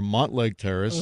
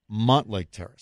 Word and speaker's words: Mountlake Terrace: lifelong Puget Sound resident I know it's spelled with a u but it's always been Montlake Terrace you are wrong for 25 says Mountlake Terrace it's not debatable 206 says I grew